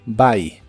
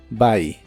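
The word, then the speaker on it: buy: by que significa comprar la u se pronuncia como una a en esta palabra by by el auxiliar wouldn't junto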